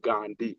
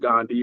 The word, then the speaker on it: Gun Dei: people why is it spelled Gandai but it's pronounced Gandhi.